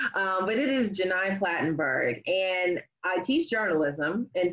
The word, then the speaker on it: Gheni Platenburg: I understand it's not the easiest name to pronounce but it is Jenai platenburg and I teach journalism and so you know